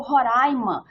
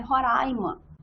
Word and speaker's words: Roraima: O certo é o Roraima, porque é uma palavra que é falada desta forma pela língua indígena. É Roraima, é Pacaraima, essa é a pronúncia, tá?